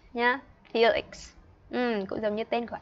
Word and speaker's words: Felix: Nhưng mà tên của bạn ấy viết chính xác là F E L I N N X nhá, Felix.